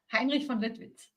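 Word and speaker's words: Heinrich von Lüttwitz: General Heinrich von Lutwitz. Almost, not bad. Heinrich von Lutwitz.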